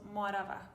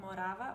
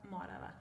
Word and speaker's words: Morava: the second syllable, but for us, most of the time, it is on the first syllable. So Morava, not Morava, but Morava.